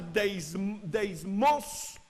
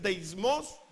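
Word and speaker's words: δέσμιος: un derivado del griego que se pronuncia deism parecido a diezmos Pero nada que ver es deism es atado Pablo quedó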